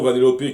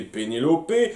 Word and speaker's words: Vanellope: Alors, nous avons Vanellope que j'ai appelé Pénélope, le manchot Pablo que